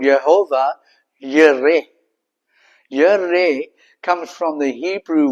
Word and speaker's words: Jehovah Jireh: In the actual Hebrew, we pronounce it as Jehovah Jireh, but in actual Hebrew, it's called Jehovah Yireh.